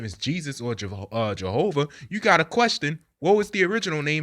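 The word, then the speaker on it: Jesús: you know since they their J is usually of an H pronunciation right the way they say G Jesus is uh Jesus right so where but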